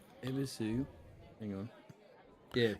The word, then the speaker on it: Ebisu: Ebisu. Hang on. Yeah.